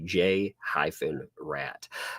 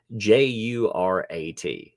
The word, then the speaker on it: Jurat: So he called him a J-rat. But passed it off as mispronounced Jurat. So you can see, it kind of got messed up in the pronunciation.